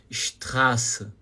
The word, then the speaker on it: Straße: Então, quando você, Straße, o A não é muito curto.